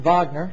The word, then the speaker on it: Wagner: uh you'll study Richard Vagner again his name looks like Wagner but it's pronounced Vagner Richard Vagner um he wrote uh